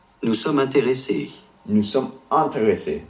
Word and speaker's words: intéressés: Nous sommes intéressés, not in.